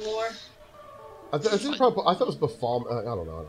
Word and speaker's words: Baphomet: I thought it was Baphomet. I don't know how to pronounce it. Really. It's Baphomet.